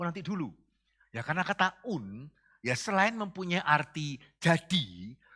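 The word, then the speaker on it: οὖν: Yaitu kata un. O-U-N. Bacanya un.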